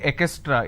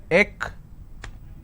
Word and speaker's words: extra: Lot of people mispronounce this word extra. They say ekestra. It's not ekestra.